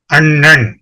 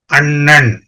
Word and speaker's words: அண்ணன்: Sound பாருங்க நான் உச்சரிக்கிறேன் அன்னம் அன்னம் அண்ணன் அண்ணன் ரெண்டுக்கும் வித்தியாசம் இருக்கு. அந்த அண்ணன் சொல்லும்போதே அது கனமா இருக்கும் அந்த சத்தம் அன்னம் சொல்லும்போது அது ரொம்ப மெல்லிசா இருக்கும் எப்படி அந்த உச்சரிப்பு டிஃபரன்ஸ்